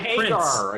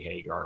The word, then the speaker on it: Hagar: He's been fired by Hagar. Prince. According to Wikipedia, he worked with Sammy Hagar, and I missed the opportunity. No, I don't know anything about Sammy Hagar really, but he's got a really funny sounding name.